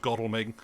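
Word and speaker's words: Godalming: his lover uh Lord godelming um which I pronounced that way because I've heard other people from the area pronounce it I want to say God alming and it's like don't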